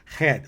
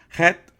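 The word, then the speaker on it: חית: pronounce, in Hebrew myself, because it has a gargle sound, like that. You have to do that thing in your throat, and I'm not used to that. But it says Het, that's Het, and this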